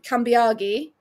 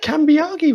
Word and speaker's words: Cambiagi: Um but they also butchered um Kambiagi. Can't remember again. How do you get Cambiagi wrong? Like it's I think it was like that's almost phonetic by in terms of Italian names.